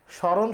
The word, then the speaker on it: স্মরণ: যদি স্মরণ শব্দটি লিখি, তাহলে আমরা দেখতে পাই যে ময়ের কোনো উচ্চারণ হচ্ছে না। তো এ থেকে আমরা জানতে পারি এক নম্বর নিয়ম, সেটা হচ্ছে মফলা শব্দের শুরুতে থাকলে ওই ময়ের উচ্চারণ হয় না।